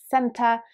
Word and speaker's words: center: r so for example when you say the word center in british english there's like an a sound at the end whereas in american english you can clearly hear the r being enunciated so it's more like center or center the next pretty obvious